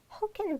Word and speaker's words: can: I have pronounced like who can. Who can do it? Not can do it.